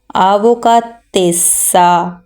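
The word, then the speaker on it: avvocatessa: कहेंगे अवो काते सा आवो का तेस सा डबल एस की आवाज आएगी और डबल व की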